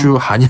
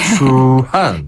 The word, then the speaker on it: 추한: 맞아요네 추한 추한 그렇죠 주한이 아니라 추한 그죠 아 땀 나네요 추한 그렇죠 추 발음 하을 때 혀를 살짝 말아서 입천장에 달랑말랑 추 그리고 한 한 입술을 쭉 내밀어야 겠어요 추한 그렇죠 습니다 자